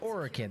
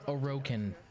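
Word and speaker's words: Orokin: oh for some reason the way she pronounces orekin kind of irritates the hell out of me out of anyone you'd think the lotus would be the one to pronounce it correctly but no because it's orican but she's like an aerocan different language space agents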